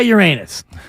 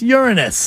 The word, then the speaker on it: Uranus: John, why don't you try Uranus?